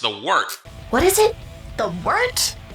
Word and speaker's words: Wort: It's pronounced the Wort. What is it? The wort? Yeah, okay, I'll do that again. This is the Wort on Gubs Radio. It is the Wort. Not warts, not forts, not short.